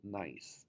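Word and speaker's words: gneiss: banded rock is the rock called nice that's how you pronounce that word the very nice rock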